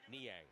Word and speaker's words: Niang: Niang, how do you pronounce that name? Niang? Niang.